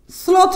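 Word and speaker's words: শ্লথ: তালেব বসা বর্ণের সঙ্গে লফলা থাকলে তালেব বসা এর উচ্চারণ দন্তস এর মতো হবে। যেমন স্লোথ একটা শব্দ, এর অর্থ হচ্ছে ধীর।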